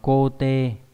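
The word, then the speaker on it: 肯定: Khẳng định này đọc là cô tê.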